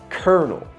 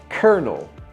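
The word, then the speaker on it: colonel: l it's actually pronounced kernel kernel isn't that crazy there's no R in the word there's no R in the word but somehow it gets added and the l c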